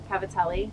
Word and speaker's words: cavatelli: you say okay so an American person would say capitelli Cavatelli but if you grew up Italian if you grew